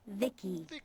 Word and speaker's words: VICI: By the way, I'm VICI, pronounced Vicky.